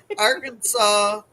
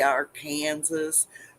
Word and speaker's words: Arkansas: Arkansas. In Arkansas, you must pronounce the state name correctly. You can't say our Kansas or Arc, you know, cactus hugging.